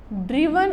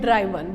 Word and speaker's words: driven: ड्रिवन एंड ड्राइवन both pronunciation it's correct. ड्रिवन और ड्राइवन दोनों ही ठीक हैं प्रोनाउंसिएशन.